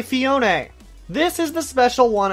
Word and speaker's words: Phione: have actually fixed surprisingly phione fiown both are wrong hang up the phone and say Fiona this is the special